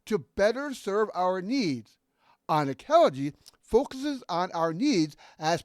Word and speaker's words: Anankelogy: or K's, put together make the unk sound, as in thank you, or in sunk, or in link. Hence, Anankelogy.